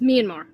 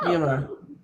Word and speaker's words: Myanmar: I mean, okay, the way it's spelled, if you phonetically sound it out, it would sound like Myanmar, Hmm. but then it's like if you hear people like from there speaking the name, it's like it's Myanmar.